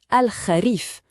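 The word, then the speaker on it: الخريف: Ce son ra, c'est un son qui n'existe pas vraiment en français. Il faut le faire venir du fond de la gorge un peu comme un léger raclement.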